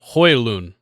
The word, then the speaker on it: Højlund: Rasmus Højlund. So a Yeah. lot easier. Yeah, very easy. It's Yeah. you don't pronounce the D, and the J turns to a Y.